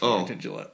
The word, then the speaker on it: Warrington Gillette: No, I said that's Warrington Gillette. Okay, sorry. Yeah, see, Scotty, he doesn't hear so Well, good. you said his name wrong. Warrington Gillette.